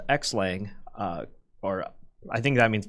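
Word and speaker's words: xlang: know this I know there's a project called X Lang or I think that means pronounced cross-linked sorry which essentially seems like we say X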